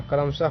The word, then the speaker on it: क्रमशः: क्रमशः इस प्रकार लिखते हैं और क्रमशः पढ़ते हैं।